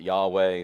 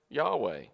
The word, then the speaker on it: Yahweh: it or whatever but typically people pronounce it yahweh something similar to that and then of course